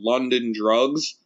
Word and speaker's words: LNDNDRGS: It's called London Drugs. It sounds crazy, right? But it's the way they spell it is LNDNDRGS, right?